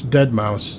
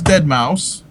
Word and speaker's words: deadmau5: wants his name pronounced well from what I've heard from other people it is dead mouse okay and I could